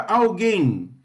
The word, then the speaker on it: alguém: Qual que é a sílaba tônica na palavra alguém?